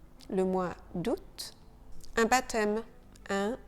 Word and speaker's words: baptême: Un baptême, un baptême. Le P de baptême est silencieux.